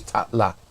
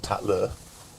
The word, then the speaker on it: Tatla: But no, it's spelled differently. This is Tatla, not Tatler.